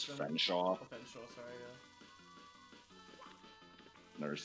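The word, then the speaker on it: Featherstonehaugh: Featherstone Haw is pronounced as Fenshaw.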